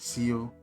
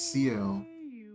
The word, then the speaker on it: Ciel: I was pronouncing it Ciel. It's Ciel, and I was picking up on like a cinnamon kind of vibe.